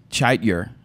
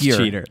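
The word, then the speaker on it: Chetyr: E T Y R chaitier chiider but it's supposed to be pronounced cheater cheatier cheatier cheatier cheatier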